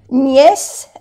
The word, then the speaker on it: nièce: Aquí es acento grave que se dice nièce, entonces se pronuncia E.